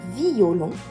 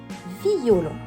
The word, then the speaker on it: violon: la métrique pour résumer si je prends le mot violon et que je souhaite faire une Thérèse sur lui je le prononcerai violon si je souhaite faire une synérèse alors je le prononcerai normalement c'est à dire violon